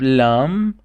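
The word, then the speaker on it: لام: Then we have lam, which is L in English, and we spell it like L.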